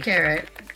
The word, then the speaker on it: carat: C-A-R-A-T. 1 R, 2 A's.